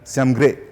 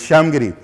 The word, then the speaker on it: Shyamgiri: So now they write it S-I-A-M-G-R-E, Shyamgre. And they also pronounce it a little differently, but it is Shyamgiri, Ramgiri.